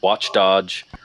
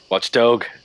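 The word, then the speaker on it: Watch Dogs: Creed Unity we had watch Dodge um Dodge watch Dodge you mean dog Watch Dog oh God is that how it's pronounced yes oh God I'm so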